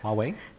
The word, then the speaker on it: Huawei: And if you look at like uh I don't know how to say the name Huawei Huawei uh if you look at all like the Huawei phones here like these are not um ancestors of the dynamic type.